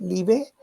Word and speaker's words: Liebe: Y Liebe se pronuncia, es L-I-B-E, Liebe, y eso se traduce como vida, life.